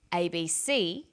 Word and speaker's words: ABC: with a read-only memory notice that each letter in the abbreviation is pronounced separately but the last letter is pronounced more strongly because it carries the primary stress so we say usa asap abc and tv listen for